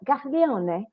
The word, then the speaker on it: Gaglione: And I actually, for those who are wondering why I'm saying it that way, that's how his name's actually pronounced. It is. I checked with him. I confirmed with him.